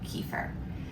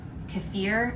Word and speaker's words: kefir: today we are going to be talking about kefir, specifically homemade kefir. If you don't know what kefir is, well, actually I'm saying it wrong. It's actually pronounced kefir, and I've just been saying it wrong my